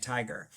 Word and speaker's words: tiger: syllable with a vowel, that vowel says the long sound, right? It says I. And so then students can know that's Tai and then GR and you can put it together and make tiger.